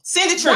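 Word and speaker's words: Cindy Trimm: Well, dog, I've still said the name wrong. Cindy Trim.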